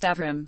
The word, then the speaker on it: Abram: names the original first named Abram pronounced Avram literally hi father has